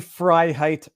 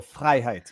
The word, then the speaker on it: Freiheit: It is phonetically Freiheit, perfect. In French, we just roll the R's. We go Freiheit, but Freiheit.